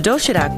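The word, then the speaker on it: 도시락: The doshirak box offers a terrific, healthy variety of neatly packed food.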